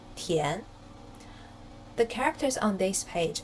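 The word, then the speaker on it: 田: the shape of the character it pronounces as Tien the characters on this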